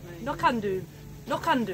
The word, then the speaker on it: No Can Do: No can do. It's like no can do. No can do. With more of a Scottish accent, please.